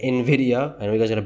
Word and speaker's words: Nvidia: Tesla then we can go into Nidia and then Nvidia not Nidia Nvidia I know you guys